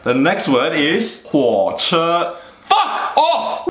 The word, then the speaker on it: 火车: All right, the next word is 火车.